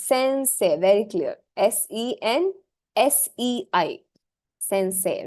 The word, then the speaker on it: Sensei: I'm still typing that word it's not detached Sensei s e n s e i Sensei it's not uh Sensei or SanSai or nothing it's Sensei very clear s e n s e i Sensei right hanaka Sensei now coming to the